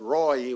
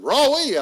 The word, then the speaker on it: Roy: I maintained that Roy was a 2-syllable word.